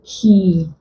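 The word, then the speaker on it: quay: The UAY contains the long E sound. We'll pronounce this one key.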